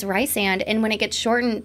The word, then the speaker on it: Rysand: I think it's Rysand.